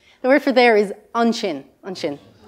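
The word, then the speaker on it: ansin: The word for there is unshin. Unshin. Right there, your shin.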